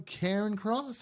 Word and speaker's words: Cairncross: Obtained a copy and concealed agreement detailing the fine, and it was sent to Sean Cairncross.